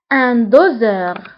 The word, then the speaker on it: doseur: فبالنسبة لان دوزور هنا اس نطقناها بحال لو سون زد لأنها جاءت entre deux voyelles جاء قبلها فويل وبعدها فويل فاس هنا ننطقها بلو سون زد ان دوزور.